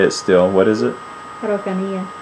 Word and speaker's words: Araucanía: Araucanía. Araucanía.